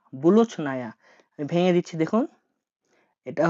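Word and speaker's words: булочная: রুটির দোকানকে রাশিয়ানে বলা হয় বুলোচ নায়া। বুলোচ নায়া।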